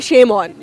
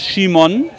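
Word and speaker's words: Szymon: It sounds like a shaman, but it's not a shame on. No, it's not sure. It's pronounced Shimon.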